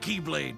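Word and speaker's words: χ-blade: yeah he means the x-blade it's just pronounced like keyblade even though it's just one keyblade ah the series is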